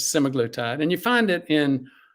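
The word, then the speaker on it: semaglutide: the park is uh I call it semaglatide it's the proper pronunciation is semoglotide and you find it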